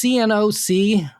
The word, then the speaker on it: Cnoc: It's CNOC, Knock, or is it CNOC? Or I think the first C is silent. It's probably just knock. Knock on Tursa, A Cry for the Slain.